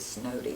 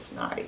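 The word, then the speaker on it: Snoddy: it was an SOS s-n-o-d-d-y and they pronounce it snowy instead of snotty but they held him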